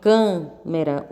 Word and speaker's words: câmera: também não né porque porque em câmera o som representado pelo ar é fechado em máquina ele é aberto é o som dos